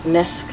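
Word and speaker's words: Naskh: working on and correctly correct my pronunciation is nesk this is called Quran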